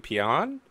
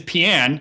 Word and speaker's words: Pian: Wait, are you mad because I'm taking Peon? Are you putting a claim on Peon? Didn't say that either. Okay, Swarg. Because first of all, her name is Pian. Pian, sorry, my bad.